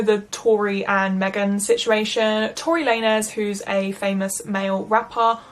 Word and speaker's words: Tory Lanez: day after I filmed this that it's actually pronounced Tory Lanez. Wow, I had no idea. I never listened to his music anyway, but yeah, no, so I say Tory Lanez instead of Tory Lanez this entire video, which is an extremely embarrassing